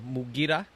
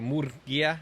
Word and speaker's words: Murguia: Today we'll start off with Ismael Mugir, or Murguia. I learned how to say his last name right yesterday, or the proper way to say it.